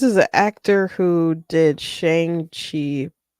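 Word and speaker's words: Shang-Chi: who did Shang chi I think they want you to pronounce it Shang Chi and I'm like I'm not saying that because it's silly Jim Starin who I've met Jim Starin Jim Starin made um that character and he pronounced it as Shang Chi and that's how people pronouncing it forever but they made it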